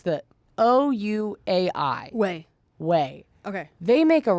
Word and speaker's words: Ouai: If you have a dog lover in your life, I never know how to pronounce it, but they make mostly shampoo for humans. Is it Ouai? It's the Ouai.